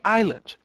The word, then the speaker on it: island: Se bem que no inglês a gente não pronuncia, vamos dar uma aula de inglês, a gente não pronuncia o S do Island. Então a gente falaria Island, tá?